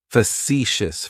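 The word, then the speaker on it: facetious: Facicious has three syllables and the stress is on that second syllable. It's like you're just saying the letter C for C. That first syllable has that schwah that h sound.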